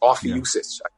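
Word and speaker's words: Ophiuchus: thirteenth sign of the zodiac is off uses off young sister that's how you say it yeah you see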